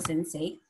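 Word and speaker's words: Sense8: Se lee así, se escribe Sensei 8, pero se dice Sensei.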